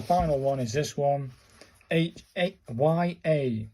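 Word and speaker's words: や: And then the final one is this one, Y-A, pronounced like the Y-A in yard, so it's a ya, and this is a ya sound.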